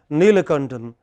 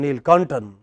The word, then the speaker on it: Neelakantan: If somebody is called Neelakantan, then Ni is higher than Kantan, but the same Hindi speaker would call him Neelkantan.